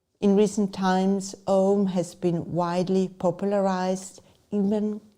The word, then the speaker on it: Om: When pronounced aloud, Om begins with the sound O, then comes U, and finally Om. This includes all the open vowel sounds.